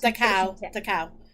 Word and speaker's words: Dachau: And yeah, but then he was technically allegedly rescued from Dachau or Dash. I don't know how do you pronounce that. It's Dachau. Dachau.